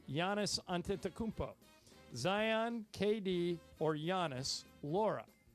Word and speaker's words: Antetokounmpo: C, Giannis Antetokounmpo.